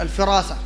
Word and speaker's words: الفراسة: مدارج السالكين صفحة 393 في منزلة الفراسة، والصحيح تنطق بالكسر الفراسة.